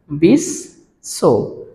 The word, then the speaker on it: বিশ্ব: উচ্চারণ হবে না কিন্তু যার সাথে যুক্ত থাকবে সেই বর্ণটির দুইবার উচ্চারণ হবে তাহলে ব টা কার